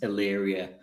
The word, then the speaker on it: Illyria: I've been trying to work out, or been half practicing how to pronounce Illyria for maybe 10 minutes before we I have not spelt it correct first go once.